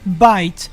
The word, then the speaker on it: bite: it had the word bite in it, and bite in French is pronounced bit, which means dick or